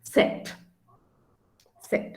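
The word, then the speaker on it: Zett: oops cylon and um the alphabet z is pronounced as set set okay and then you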